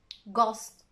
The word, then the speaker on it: ghost: Let's look at the other rare examples in which the H is silent. Choir, echo. Now with the G, ghost, and with an R, rhythm, rhyme. Good news, the I is not usually silent.